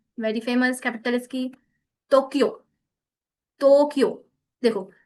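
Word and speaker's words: 東京: Alright, सो कुछ नहीं है, जस्ट इस वॉवल आएगी तो उसके बाद हमारी साउंड हल्की सी लॉन्ग हो जाएगी, हल्की सी स्ट्रेच होगी, Ohio, गाक्को, अरिगातो, Tokyo, like this one.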